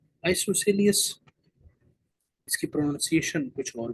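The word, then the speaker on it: isosceles: ना हो उनको हम क्या कहते है जी आइसोसेलस इसकी प्रोनंसिएशन कुछ और भी हो सकती है लेकिन आप इसकी spelling फकस आई एस ओ एस सी एल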